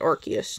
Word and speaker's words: Arceus: That's how you pronounce it. Arceus. Not Arceus. Arceus.